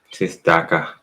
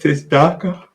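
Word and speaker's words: צדקה: Tistaka. That's how you pronounce that. Yeah, one way you can say it. Tistaka.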